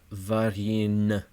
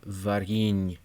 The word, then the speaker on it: варенье: There is an initial hard V consonant with va, but then the re in the second syllable is soft as opposed to re. And this syllable is just flat out hard to say because it ends with a soft ny. Not varin, but varin. You have to make sure you have that soft ny.